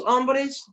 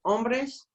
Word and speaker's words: hombres: los parties ha ha don't forget the H is silent okay los hombres los hombres son Altos los ninos